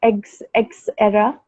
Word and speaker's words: Xera: It's actually X era, but when you say it in a go, so it's Mm-hmm. Xera. That's how you pronounce it.